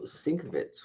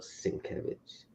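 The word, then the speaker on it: Sienkiewicz: we have Moon Knight annual one the bill sinkovitz one in 25 variant this is this book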